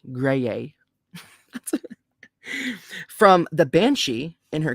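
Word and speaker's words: Graeae: the gray ladies cool it's spelled g-r-a-e grey-a from the banshee in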